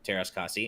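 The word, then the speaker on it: Teras Kasi: cassie and masters of taras kasi is a finnish word and the a should be pronounced like a in the word cat i didn't know that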